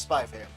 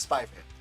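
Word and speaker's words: Spy × Family: Should be silent. So it is Spy Family.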